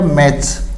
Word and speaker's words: match: जैसे CATCH, CS से पहले T है तो अपना T साइलेंट है, कैच, पकड़ना। इसी तरह MATCH, CS से पहले T हो गया, मैच, यानी मैच।